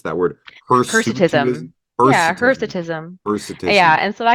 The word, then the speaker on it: hirsutism: I don't know how to pronounce that word. Hirsutism.